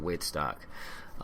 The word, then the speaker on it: Whitstock: It is spelled Weitstock, but it's pronounced Whitstock.